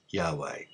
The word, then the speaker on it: Yahweh: There is universal consensus amongst the scholars today that the sacred Tetragrammaton is Yahweh, and it is to be uttered and pronounced Yahweh.